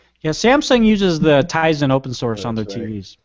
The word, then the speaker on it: Tizen: Yeah, Samsung uses the Tizen open source on their TVs. Mm-hmm. And I want to say, they say Tizen, not Tizen. So for those who say that I'm saying it wrong, you're saying it wrong.